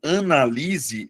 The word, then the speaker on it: analise: O primeiro caso, analise, é verbo, Luana. Mas aí você vai perceber, analise. A sílaba tônica é a anterior. Beleza? Eh, é a penúltima sílaba.